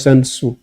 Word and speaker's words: Sun Tzu: How do you spell it? Sun. See, T Z T. S-U-N and T-Z-U. Yes, sir. Sun Tzu.